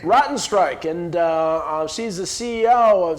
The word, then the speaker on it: Rottenstrich: Gail, how do you pronounce the last name? Rottenstrich. Rottenstrich, and she's the CEO of ZAGO Manufacturing, and welcome.